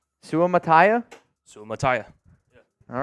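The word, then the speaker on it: Suamataia: is Jared Salto lakia Cullen knows how to pronounce it Cullen the the tackle from BYU Kingsley Su Tai no it's not my can can we get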